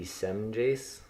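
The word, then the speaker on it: Semjase: Semyazi. So, okay, the J is silent in that one, but not in whatever their names are.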